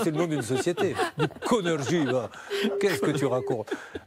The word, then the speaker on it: Éconergie: Nos amis de Econ RJ, mais comment vous prononcez ça ? E-C-O-N-R-G-I. Econ RJ ? Éconergie.